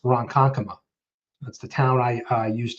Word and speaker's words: Ronkonkoma: You try to kind of say it phonetically, and when you look at it, you think it's Ronkonkoma, but it's Ronkonkoma.